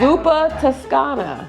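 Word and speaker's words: Zuppa Toscana: you that is how you pronounce it zupa spelled like that zupa Tuscana zupa Pana zuka I mean now you got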